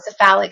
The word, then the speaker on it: cephalic: Cephalic phase? Oh, cephalic phase. Cephalic phase.